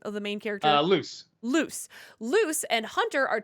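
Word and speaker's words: Luz: what's the name of the main character uh loose loose loose and Hunter are trapped in bellows's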